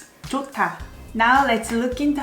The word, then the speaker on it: 좋다: 좋다. 조, H is silent, but H and D together becomes T sound. 좋다. 좋다.